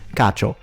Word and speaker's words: cacio: So, it's cacio. The E, he said cacio. The I, or E in Italian, is not pronounced.